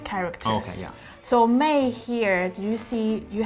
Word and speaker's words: 昧: not what it mean so it's same pronunciation with 妹 but it's different like characters oh yeah so 昧 here do you see